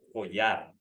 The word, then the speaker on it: collar: Yeah, so you gotta, because it's double L, we pronounce it a little stronger. Collar.